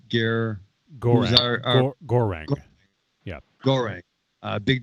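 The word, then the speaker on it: Goreng: It's not Garon, but it's Gorang.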